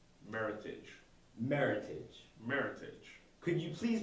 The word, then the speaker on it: Meritage: to correctly pronounce it meritage think merit and heritage combine the two meritage meritage meritage could you